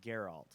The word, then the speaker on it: Geralt: I want to see in the game it's pronounced Geralt oh I'm sorry with your fans I'm sorry